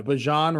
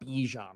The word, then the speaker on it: Bijan: Yeah, Bijan Robinson, not Bijan Robinson.